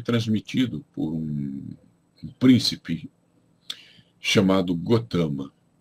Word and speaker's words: Gautama: Bom, Gotama, escreve-se Gautama, pronuncia-se Gotama, era filho do rei Suddhodana e da rainha Maya.